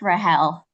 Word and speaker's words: Rahel: Help me out with the correct pronunciation of your first name. You are right. It's Rahel.